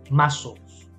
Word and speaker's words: muscles: Muscles. Otro día vemos las palabras que tienen letras que no se pronuncian. En este caso la T es muda, ¿vale?